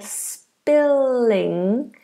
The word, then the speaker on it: spilling: dark spill spill spill but because we're saying spilling it becomes kind of light because we got the ing at the end which is quite bright spilling spilling spilling and